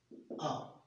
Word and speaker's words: of: और जिस प्रीपोजिशन को मैंने आपके सामने दिया था वो प्रीपोजिशन था OF, आ, जो OF होता है इसका उच्चारण होता है आ। ज्यादातर बच्चे इसका उच्चारण ऑफ करते हैं, बट इसका उच्चारण ऑफ नहीं होता, इसका उच्चारण होता है आ।